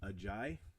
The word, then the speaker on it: Ajayi: I did learn that I have been pronouncing Ajayi's name wrong. It is actually Jay Ajayi.